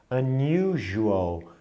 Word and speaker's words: unusual: Você vê que esse S tem um som parecido com J, né? Unusual.